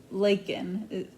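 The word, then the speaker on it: Laikyn: Um, the next name is I It's Leaken, but it's spelled L A I K Y N.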